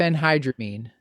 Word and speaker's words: diphenhydramine: I can't remember how to pronounce the generic. Diphenhydramine.